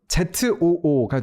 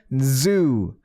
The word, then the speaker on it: zoo: 근데 이게 이제 동물원 ZOO가 되면 zoo 되는 거죠. zoo 이 진동이 들어가면 그러면 Z인 거예요. 해서 Z가 들어간 발음을 할 때는요, 그냥 zoo 이렇게 한 번에